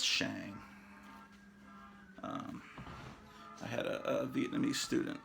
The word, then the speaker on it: Shang: I pronounce it Shang, not Shang.